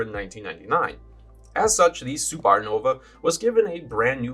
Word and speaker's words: SupeRNova: heart with the Dacia SupeRNova. And I am pronouncing it like it's spelled.